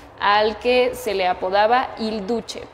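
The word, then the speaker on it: Il Duce: Benito Mussolini, al que se le apodaba Hilduche. Hilduche se escribe con C. Hilduce.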